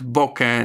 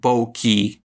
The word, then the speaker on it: bokeh: bokeh and out here I am using the standard not American pronunciation so we will hear here Nikon not Nikon and bokeh not bulky deal with it there